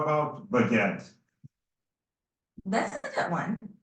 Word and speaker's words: baguette: How about baguette? That's a good one. It's pronounced almost like it looks, baguette, with a little emphasis on the second syllable. Give it a shot. Baguette.